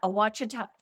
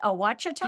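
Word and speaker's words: Ouachita: Kerry is a backpacker, a trail maintainer, and on the Awachita. Am I pronouncing that right? Awachita?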